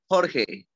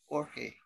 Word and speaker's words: Jorge: My name in Spanish is Jorge. So that's Jorge. Jorge. In English is George. George Jorge.